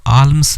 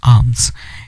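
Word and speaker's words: alms: हम भिक्षा, आर्म्स का मतलब यहाँ पे जो है, इसको आल्म्स नहीं बोलेंगे, एल साइलेंट हो जाएगा। इसकी जो करेक्ट प्रोनाउंसिएशन होगी वो होगी आर्म्स।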